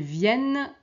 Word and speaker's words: viennent: Et ici elles viennent attention ici on a double n on prononce le n mais on prononce pas les n elles viennent après le travail.